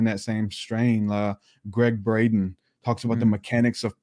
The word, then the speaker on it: Braden: many others in that same strain uh greg braden talks about the mechanics of prayer what happens